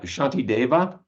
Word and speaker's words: Shantideva: spelled sh uh shaki Dava oh boy uh Shanti DEA Shanti DEA uh okay uh it's spelled in two different ways but the most